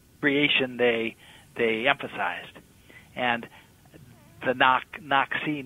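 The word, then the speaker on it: Naxi: Another interesting feature of the tribe is that their name, Nak-Si, it's a complicated name. Sometimes it's pronounced N-A-X-I, or sometimes it's N-A-K-H-I. And it's like there's this complex suffix on the end of it that nobody's quite sure what to do with.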